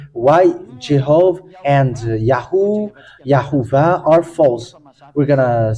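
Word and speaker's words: יהוה: Holy Scripture of Hebrew, it is read as YAHVAH. There is no more discussion about that because it's clear. YAHVAH.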